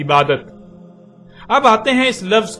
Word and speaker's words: عبادت: یا بولا جائے گا۔ عربی کا لفظ عبادہ جب اردو میں شامل ہوا تو اسے عربی کی بجائے اردو لہجے میں تے کے ساتھ بولا گیا اور بولا جاتا ہے، یعنی عبادت۔ اب آتے ہیں اس